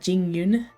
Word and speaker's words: Jingyun: Jingyun. That sounds like a G.